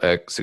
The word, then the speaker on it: Ek: I don't know how to pronounce his last name. Is it just Ek? Yeah. Daniel X.